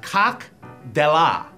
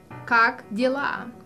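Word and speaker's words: как дела: I'm from Belarus, and I'm here to help Ron to pronounce those words correctly. Okay. The way you say, how are you in Russian is Cock Dellah. Cock Dellah.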